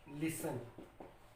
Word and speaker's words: listen: एक एग्जाम्पल मैंने लिख दी, ये LISTEN यानी कि लिसन। LISTEN लिसन, यानी कि अगर टी के ठीक पहले आपको एस दिखता है तो टी जो है वो साइलेंट रहेगा।